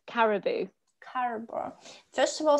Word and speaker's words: Caroboo: don't know how to pronounce it could you pronounce the name of your company yes it's caribou caribou first of all sounds very exotic um